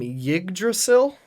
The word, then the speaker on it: Yggdrasil: game in the game Yggdrasil it's kind of hard to pronounce because it's ygg d Ras il mm-hmm so so my